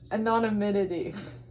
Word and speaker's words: anonymity: Hey Google, how do you pronounce anonymity?